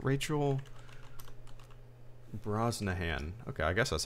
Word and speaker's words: Brosnahan: me of a so it was a Rachel Brosnan Brosnahan Rachel Brosnahan okay I guess that's how you pronounce that I don't think I've ever heard